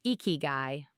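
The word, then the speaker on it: ikigai: It's pronounced eeky guy.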